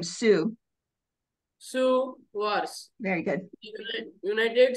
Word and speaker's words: Sioux: Sioux Wars. It is pronounced Sioux.